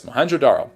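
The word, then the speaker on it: Mohenjo-daro: Is that Moenjodaro? Yes, Moenjodaro. And now I'm pronouncing it correct.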